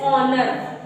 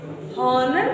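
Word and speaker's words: honour: जैसे ऑनर, हॉनर नहीं पढ़ना है, वो आपका रॉन्ग हो जाएगा। क्या हो जाएगा? रॉन्ग हो जाएगा बच्चे, ओके।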